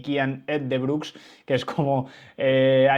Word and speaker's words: Uijtdebroeks: que realmente no era O de Brooks ni with the de Broex, sino que digamos que la pronunciación empezaba por e, ¿no?